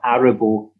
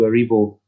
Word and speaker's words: Aribo: But what I will say is that you're getting absolute pelters in the YouTube comments for your pronunciation of Aribo as opposed to Aribo. That's the Ardrossan pronunciation.